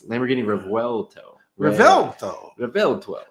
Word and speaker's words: Revuelto: Revuelto. That's how you pronounce it. Lamborghini Revuelto.